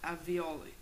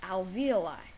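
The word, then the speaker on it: alveoli: are tiny sacks called avioli the avioli are surrounded by capillaries or tiny veins which diffuse oxygen into the blood actually Matt it's pronounced Alvi I'm sorry I just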